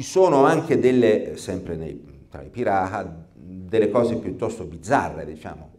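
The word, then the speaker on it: Pirahã: particolare una popolazione anzi Bisognerebbe dire i pirata scritto Pira h a con l'accento circonflesso ora questa queste popolazioni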